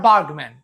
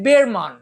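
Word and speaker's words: Bergman: আছেন তার নাম ইনমার্ক বার্গম্যান সারা পৃথিবী তাকে বার্গম্যান বলছে আমরা যদি তার সম্পর্কে তথ্যচিত্র দেখি তাহলে হয়তো বুঝবো যে তার পদবীর উচ্চারণ আসলে বেরমান ইংমার বের এবার এটা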